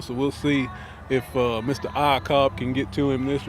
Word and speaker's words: Iacob: Michael Iacob, I think is how you pronounce it, IACOB. All I've had to be concerned with was spelling it, but we're going to go with Iacob.